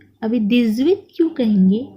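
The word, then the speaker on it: dix-huit: क्योंकि H जो है वो हमेशा साइलेंट होता है और X का प्रोनाउंसिएशन हम यहाँ पे करते हैं, बट एच साइलेंट होने के कारण हम पूरे के पूरे वर्ड को कंबाइन करके पढ़ते हैं, इसे लियाजो कहते हैं।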